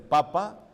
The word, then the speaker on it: papa: verdad Pero Acuérdese que en italiano en italiano se dice mamá ni papá no lleva acento se dice papa y mamá entonces por eso el